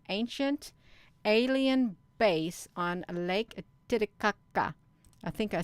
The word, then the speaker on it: Titicaca: are it's an ancient alien base on lake titicaca i think i said it right you i